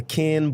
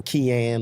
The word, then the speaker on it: Ken: the can Boyd show I gotta spell it because I'm from the south and people think I'm saying something different than Ken but it's the only way I know how to say it they think I'm saying Kim or quien or whatever it's the